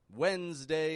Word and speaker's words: Wednesday: Why Wednesday is spelled with a D, which is not pronounced.